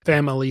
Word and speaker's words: Phamaly: So Family Theater Company, if you're not familiar, it's spelled with PH, PHAMALY.